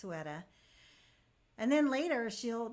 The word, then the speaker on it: Ceuta: She said Cueta. That's not pronounced correctly, it's pronounced Ceuta.